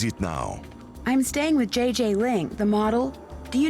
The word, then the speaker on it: Gigi: be I don't know JJ Ling you mean Gigi Ling no I mean JJ Gigi JJ you pronounce g like J and J like G she may very well